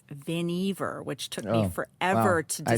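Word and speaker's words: Vannevar: has the same it's viniver which took me forever I said that wrong but no this is like it rhymes with Beaver that's how you it's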